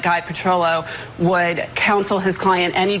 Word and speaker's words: Petrillo: I will defer to my new counsel, Guy Petrillo."